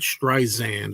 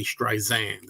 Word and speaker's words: Streisand: Somebody told me it's not Streisand with a Z. Don't say Streisand. It's Streisand.